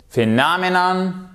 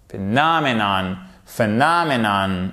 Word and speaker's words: phenomenon: Phenomenon, triumph. Exactement, le triomphe, un phénomène. Et là, toujours, vous regardez où se trouve votre accent tonique. Phenomenon, ok? Triumph. Accent tonique sur la première syllabe.